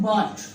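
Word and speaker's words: bought: For example मैं अगर कहूँ फाइट, फॉर एग्जाम्पल मैं कहूँ बॉट, तो अगर आप इनको नोट करें तो जी और एच को प्रोनाउंस नहीं किया जा रहा, ये सिर्फ लिखे जा रहे हैं।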